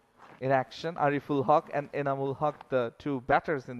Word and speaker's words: Anamul: picking up a boundary pretty sure then the way you pronounce their names is enamul but yeah the spelling can be a bit confusing I think the batter